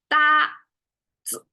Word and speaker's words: 搭子: So this is not emphasized. It becomes 子. So in the Chinese, when we say it, it's 搭子. So it's almost like 搭 is the main thing.